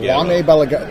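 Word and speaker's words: Jaume Balagueró: no idea how to pronounce the name when it's spelled J A U M. I think it's Juan Balag. Juane Balag.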